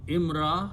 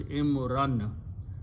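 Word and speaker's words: إمرا: So imra, when you stop, you say pronounce imra, but the word is imran.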